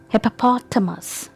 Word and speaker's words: hippopotamus: the next animal okay how do you pronounce its name do you say it hippopotamus hippopotamus if you say it like this then it's incorrect pration the correct pration of this animal is hippopotamus hippopo us hippopotamus so here the stresses on P okay so how will you pronounce it hippopotamus hippopotamus okay not hippopotamus now the next animal